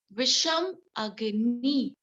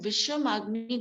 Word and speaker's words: Visham Agni: Now come to the Visham Agni. These are the types of the Jatthar Agni. Visham Agni. Visham Agni. You can write in your phonetics.